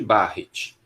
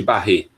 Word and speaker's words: Barrett: Um esôfago de Barrett. Esôfago de Barrett. Muito bem. A gente chama esôfago de Barrett aqui.